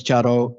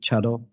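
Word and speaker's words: 茶道: So of course, Chado is the Urasenke way of pronouncing the word Sado, which is most commonly used in Japanese, but we prefer to pronounce it Chado.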